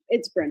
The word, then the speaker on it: Bryn: Now, I'm pronouncing it Brian, and you call him Bryn. Bryn. It's Bryn. Bryn?